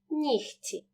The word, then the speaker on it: нігті: перед ц вимовляємо кігті і в слові ні вимовляємо як х нігті префікс з перед глухим